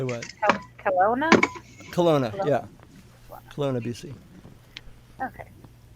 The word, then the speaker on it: Kelowna: Kelowna.